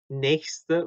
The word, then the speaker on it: nächste: 자, nächste인데 nächste를 조금 이렇게 발음을 이어서 그래서 nächste Woche라고 됩니다. nächste Woche. next week죠. next week. 그래? nächste Woche. 자, 이게 발음이 조금 빨리 지나가니까 nächste Woche 이렇게 들릴 수도 있어요. 근데 nächste Woche 이렇게 히는 짧고요. 요거 히는 짧고 스테가 붙어서 nächste Woche.